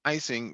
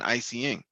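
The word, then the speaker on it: ICEing: for the practice icing which is presumably announced are pronounced icing rather than I seeing refers to drivers internal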